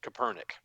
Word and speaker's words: Kaepernick: It's so well, in irony, the way that you're pronouncing his name, it completely Kaepernick. it completely changes like the whole like perspective if you do it that way, and people on the